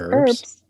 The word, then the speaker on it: herbs: herbs it's it's no you're not supposed to pronounce the h no yeah that's wrong it's herbs not herbs you're not